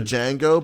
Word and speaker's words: Django: to say not the django but the django might be a good one yeah no i think the best come from pulp fiction the d is silent no dj mango it's